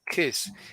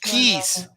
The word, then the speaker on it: kiss: um kiss is my grandma kiss he's not keys this is extremely important kiss is this right and for Mexicans for some reason it is difficult to pronounce this correctly kiss all right how do